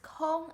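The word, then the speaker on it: 空: character is ko so it's basically the same pronunciation but different tone kong here means available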